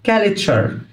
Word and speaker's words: culture: exploring حضارة أو ثقافة culture culture t u r e تدينا sound culture culture كاليتشر، مركز تجاري، تريدنج سنتر،